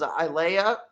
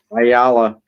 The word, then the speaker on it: Ayala: Uh 133 uh The Drake is I Lay A. That's how you pronounce that. Ayala.